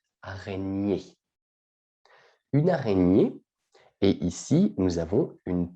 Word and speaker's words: araignée: une renier d'accord attention la prononciation c'est comme champagne ou polignac araignée une araignée est ici nous avons